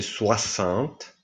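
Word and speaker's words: soixante: Caravan 50 si dice sencon 60 si dice suassant Basta ci fermiamo qua perché invece quelli del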